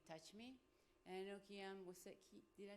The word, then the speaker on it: Kiyan: And I know Kiyan did I say it right? Kiyan, yeah.